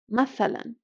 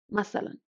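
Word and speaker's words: مثلا: And we also have the word mathalan that some Arabs would pronounce masalan.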